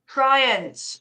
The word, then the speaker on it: Triance: It wouldn't matter if you were, because I really don't mind, but it's Triance. Triance, right.